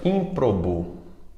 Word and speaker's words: ímprobo: ter assento outro problema ímprobo e ímprobo ímprobo essa palavra que também sempre é proparoxítona tem um erro de prosódia nós costumamos falar de forma errada ímprobo ímprobo pronunciando como paroxítona quando na verdade ela